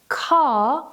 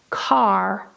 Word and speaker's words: car: So for example, in British English, the word car is pronounced without the R. However, in American English, they pronounce it as car, car.